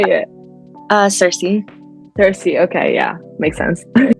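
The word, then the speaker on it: Circe: yes oh that's so oh I love that pronunciation never heard that before that's beautiful how' you say it uh Cersei Cersei okay yeah makes sense yeah I love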